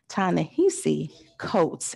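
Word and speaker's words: Ta-Nehisi Coates: writer's name incorrectly but i think it's pronounced tanahisi coats in january so please contact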